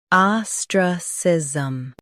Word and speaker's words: ostracism: Stress the ah and keep sism soft. Ostracism.